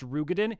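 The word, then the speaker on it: Roegadyn: Um isn't it pronounced Rugadin? Yes, if you want to pronounce it correctly as Rugan. However, I'm going to keep saying Rogan because I don't like Rugan. And also 99% of the population says Rogaden.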